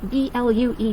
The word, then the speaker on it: blue: This one, it's spelt, with the U-E, but it does not have the long U sound as in Q and hue. It's actually the long double O sound as in ooh.